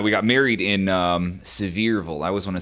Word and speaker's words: Sevierville: wife and i we got married in um sevierville i always want to say sieberville several is how that's pronounced uh tennessee and smoky mountains and so